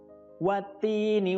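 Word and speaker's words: والتين: Ya, untuk cara membacanya, di sana ada wattini. Di situ ada alif lam bertemu dengan huruf ta. Ya. Tidak boleh dibaca alif lamnya karena itu namanya alif lam syamsiyah. Jadi alif lamnya tidak dibaca, langsung masuk ke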